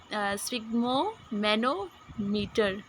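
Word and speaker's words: sphygmomanometer: तो स्पिग्मो मैनोमीटर तो प्रोनाउंसिएशन इसकी, एक मिनट, स्पिग्मो मैनोमीटर।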